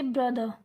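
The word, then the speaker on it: brother: जैसे यहाँ पर देखो ब्रदर लिखा है, यहाँ पे ब्रदर लिखा है ना, तो ये आर प्रोनाउंस नहीं किया जाएगा, इसको सिर्फ हम बोलेंगे ब्रदर, ब्रदर, ठीक है, ब्रदर नहीं बोलेंगे, सिर्फ ब्रदर, समझ रहे हो।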